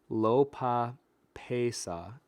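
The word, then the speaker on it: lopapeysa: Lopapa Sia says, here's a handy pronunciation guy. Lopa Pesa.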